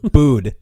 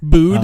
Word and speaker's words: Bud: Bood. You got to pronounce the D. Bood.